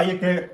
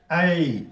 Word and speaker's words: ऐ: तो इसको कहीं कहीं पढ़ा दिया जाता है ए, जो गलत है। ऐ, 2 सेकंड, 4 सेकंड, ऐ।